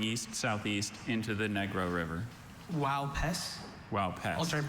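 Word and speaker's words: Uaupés: Wow, Pes. Wow, Pes. Alternate pronunciations?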